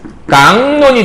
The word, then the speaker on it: 각론: 그럼 발음을 하게 되면 어떻게 되냐면 각론 하게 되면 요렇게 발음을 하게 돼요. 그 다음에 각론이 어떻게 되는 거냐면 깡론이 되겠죠. 이렇게 해서. 그렇죠? 자, 그럼 최종 발음만 한번 확인해 봐요. 최종 발음 보게 되면 각론이 깡론이 됐잖아요.